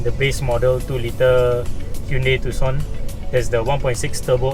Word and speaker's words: Tucson: Yes, the C in Tucson is silent, so it's Tucson, not Tucson or Tucson.